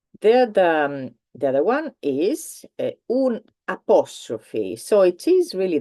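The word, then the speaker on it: un': two so one is UN it is exactly the same pronunciation of un apostrophe obviously that apostrophe does not have a sound so don't try to give it a sound I'll say that because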